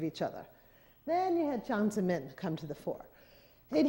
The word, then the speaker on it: Jiang Zemin: Jiang Zemin, and it's J-I-A-N-G.